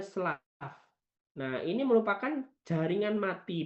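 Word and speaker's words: slough: Tulisannya sloke, tapi kita bacanya slav.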